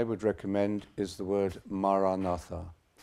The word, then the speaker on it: Maranatha: So if you choose this word, Maranatha, say it as 4 syllables, Ma-ra-na-tha. Ma-ra-na-tha.